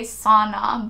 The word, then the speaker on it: sauna: Which I know Americans say sauna, but I'm Finnish. Well, I'm half Finnish. So I'm gonna fucking say sauna, bitch, like it's supposed to be.